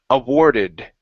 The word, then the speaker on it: awarded: word awarded right here give me an ed ending awarded awarded good so they awarded him